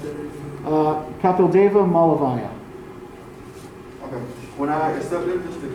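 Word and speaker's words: Kapildeva Malaviya: How do you pronounce that? Kapildeva Malavaya.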